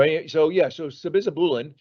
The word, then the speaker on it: sabizabulin: Yeah, we agree. That's how to pronounce it. Just exactly the way you did. So I'll take this. So sabizabulin, if you say it really quick, it sounds like you know how to say it.